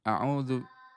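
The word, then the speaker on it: أعوذ: I baik bacanya panjang ya. Auzu. Betul ya. Jadi kita bacanya ee panjang.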